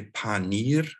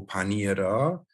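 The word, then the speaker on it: پنیر: Panura, prononcé panir ou panira, et ça, c'est le mot pour fromage.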